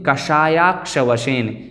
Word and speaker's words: कषायाक्ष वशेन: इस प्रकार से इसका उच्चारण है। लगभग सभी पद एकदम सरल हैं। यहाँ पर देखें कषायाक्ष वशेन, यहाँ थोड़ा सा काठिन्य हमें प्रतीत हो सकता है।